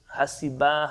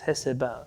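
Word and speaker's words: הסבה: problematic for me because it's spelled in so many different ways. Hasiba, Hasaba. The way I heard it from Haraper, it's always as Heseba, Heseva. And that's the way that I'll pronounce it.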